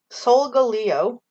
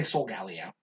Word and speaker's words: Solgaleo: Solgaleo. I say Solgaleo. Solgaleo makes more sense because it's Leo. Yeah. Like, yours makes sense. I just say Solgaleo.